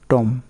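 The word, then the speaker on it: tomb: সিকিউম মানে কি মারা যাওয়া, টম মানে সমাধি, ক্রাম মানে ছোট ছোট টুকরা, তারপর লাম মানে ভেড়া, এখানে বি উচ্চারণ হচ্ছে না।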